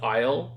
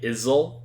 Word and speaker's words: Isle: a lot of words he would struggle on something like saying the shorten form of Island to Isle he would say Isel instead of that and instead